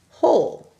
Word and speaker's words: whole: Now I want you to write whole. It's homophone. W-H-O-L-E. And think about this. This word is longer because it has a silent W in the beginning.